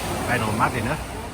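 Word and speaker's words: Benalmádena: upwards we're on the beautiful seafront here in venom madina as i'm told it is pronounced quite busy although there's still plenty of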